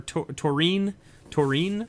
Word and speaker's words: Taurine: Carl E's walking away with that Torin Mauler, or Taurine Mauler? I don't know how you want to pronounce it. It's Taurine. It's got to be Taurine, right? Because it's E-A-N.